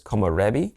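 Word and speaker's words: 木漏れ日: One of the words is a Japanese word, and I'm probably going to say it wrong, but it's komorebi.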